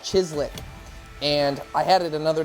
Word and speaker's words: chislic: I present to you chislic.